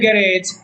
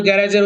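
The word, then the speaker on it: garage: আমরা উদাহরণ দেখি, দ্য কার ইন দ্য গ্যারেজ has been stolen. গ্যারেজে রাখা গাড়িটা চুরি হয়ে গিয়েছে। যদিও গ্যারেজের উচ্চারণটা আসলে আমাদের দেশে গ্যারেজ, কিন্তু আসল উচ্চারণ হলো গ্যারাজ।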